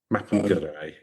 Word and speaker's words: Mapinguari: Mapinguari is how it's pronounced.